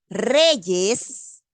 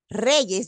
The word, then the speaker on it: reyes: Pero si yo tengo palabras como, por ejemplo, reyes, reyes, donde se va a escuchar es el sonido de la consonante, no tendría diptongo.